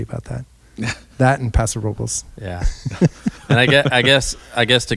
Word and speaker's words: Robles: Robles? I think the locals, Robles. Robles. Yeah. That's how the locals say Robles.